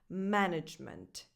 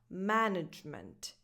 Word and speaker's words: management: and this is pronounced management. So the stress is on the first syllable, ma, with that a vowel, the same that you have in words like man, cat, and bad, management.